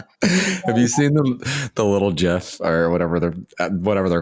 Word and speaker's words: GIF: It's GIF. No, it's GIF. GIF, like the peanut butter.